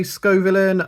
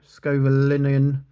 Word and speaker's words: Scovillain: Scovillain. So I say Scovillain. I've heard Scovillain. Scovillinian. Yeah, I go Scovillain here.